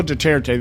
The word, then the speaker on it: Duterte: I got to pronounce his name right. Rodrigo Duterte, the new president of the Philippines, was sworn